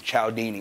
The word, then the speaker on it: Cialdini: That's how you pronounce this guy's name, Cialdini. It doesn't look at all like Cialdini, though.